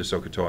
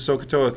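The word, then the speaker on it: SOHCAHTOA: how to do the sooa and you got to be careful with the sooa thing because the H is silent in all of them okay or the first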